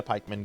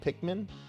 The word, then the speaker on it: Pikmin: Um, I have never played a Pikeman game before.